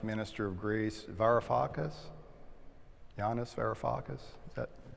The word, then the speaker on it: Varoufakis: Yanis Varoufakis. Is that how you pronounce it?